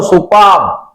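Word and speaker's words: superb: सुपर नहीं, सुपर तो ताकत होती है, वो तो अलग होती है। एक सुपर 555 धुलाई की टिकिया होती है। आई एम not talking about that. एक सुपर स्कूटर आता था पहले, उसकी बात नहीं कर रहा श्रीमान, मैं बोल रहा हूं सुपर्ब।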